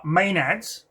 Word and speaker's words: Maenads: And Dion, uh this ritual is performed on him because these women are what is known as Let me get the pronunciation right. uh Maenads.